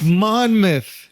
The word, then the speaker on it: Monmouth: It's Monmouth. It is. Yeah. Hold on. But it's spelled in my mouth.